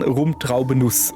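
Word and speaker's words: Rum Traube Nuss: Aber wenn, dann rumtraubeuss mit Betonung auf rum.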